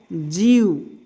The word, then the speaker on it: जीव: पढ़ेंगे तो पढ़ेंगे क्या, जीव। क्या पढ़ेंगे, जीव। थोड़ा खींच कर पढ़ा जाता है, इसका खींच कर थोड़ा सा उच्चारण होता है।